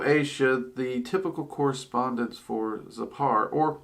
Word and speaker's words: Zepar: the typical correspondence for zappar or it can also be uh pronounced zipper but i hear it most often pronounced zapar um so part is